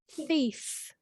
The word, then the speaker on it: thief: to check your pronunciation thief say it again sorry let me say it properly thief thief it's a hard one because you have a with your tongue between your teeth and then thief good so you go